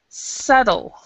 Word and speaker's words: subtle: sub yeah this one the B is silent and the T is like a d so it's subtle it's kind of like subtle SLE subtle does anybody know what